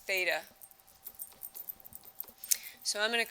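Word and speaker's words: θ: So the angle is going to be a little circle with a line through it, and that is pronounced theta.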